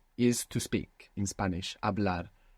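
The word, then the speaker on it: hablar: to speak in Spanish abl it's spelled h a b l a r what's happening with that H it's silent totally silent how do you say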